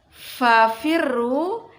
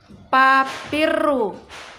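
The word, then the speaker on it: فَفِرُّوا: Selanjutnya, kadang ada yang mengucapkan huruf fa itu seperti huruf P. Contoh pada kata fafirru diucapkan dengan papirru. Itu tidak boleh.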